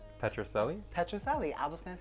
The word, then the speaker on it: Petrucelli: Petrucelli. I was going to say Celli. I mean, it's not Is wrong. That wrong? That's not wrong. Oh, the Petrucelli.